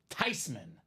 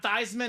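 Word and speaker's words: Theismann: said no I'm not mad because it's actually pronounced tyman it's not tman it's not theeman the proper pronunciation is Joe tyman call him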